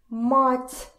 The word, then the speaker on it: мать: is pretty important because we have several words, and actually a lot of words, that depend on how you pronounce them. For example, the word mother, mat, and the word, I don't know, мять, to crumble, мять.